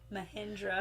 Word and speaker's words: Mahindra: Mahindra.